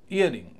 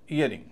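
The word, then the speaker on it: earring: क्योंकि नाउन है classmate इयरिंग इयरिंग year और रिंग इयर पे ज्यादा स्ट्रेस है रिंग पर कम है इयरिंग में आप ध्यान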